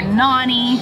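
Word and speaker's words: Nonnie: my mom's side, and now we call her Nani, N-O-N-N-I-E, because when we were kids, we didn't know how to pronounce it, and so we've just stuck with Nani ever since.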